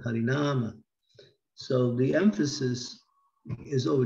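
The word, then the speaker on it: Hari Nāma: this word Hari Nama, you see above the word Nama, and then the first A, there's a line. That means that it's emphasized, Hari Nama. Not Hari Nama, but Hari Nama.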